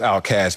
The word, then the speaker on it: Outkast: My favorite group is Outkast, pronounced Outcast, meaning aimless, homeless in society.